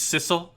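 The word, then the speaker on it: Sissel: As a sisle like Bissell. I I just figured sisle like Bissell cuz it's spelled similar to the vacuum cleaner. Huh. I don't know. And it rhymes with missile.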